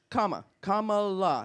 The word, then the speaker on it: Kamala: and I talk about comma K La that's how you say it K just in case you're wondering it's comma and then La I think there's a song There say Camila or Kamala yeah but it's K LA and I think there's